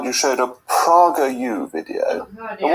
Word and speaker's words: PragerU: And what is PragerU? I've never heard of it. You're not familiar, Jacob. It's an educational channel that's been created by Dennis Prager, and it's conservative. It's PragerU rather than Prager. I've mispronounced.